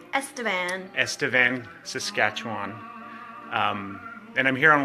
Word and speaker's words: Estevan: I am here in, how do you pronounce, is it Estevan? Estevan, Saskatchewan.